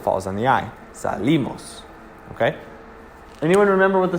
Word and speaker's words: salimos: no accent mark but you still say the accent on the eye salimos so salimos or salimos are both wrong because the accent falls on the eye salimos okay anyone remember what